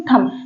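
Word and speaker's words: thumb: थम सब कहते हैं नहीं है थम थम का मतलब होता है अंगूठा ठीक है यहां पर एम के बाद भी आया है तो भी एम के बाद भी आया है तो बी साइलेंट है तो आपको हम बता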